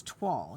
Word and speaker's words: toile: That is, you know, when you look at that word, it doesn't look like toile, does it? It looks like toil with an E. But it's toile is how you say it.